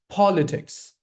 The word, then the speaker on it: politics: It's politics. Politics. Put stress on the first syllable.